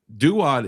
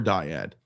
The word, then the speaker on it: duad: However, duad is a proper way to you could you could say dad or diad. Most people would say diad. That's probably why he laughed at it. But this is Oh, I got you. This is actual way to say it.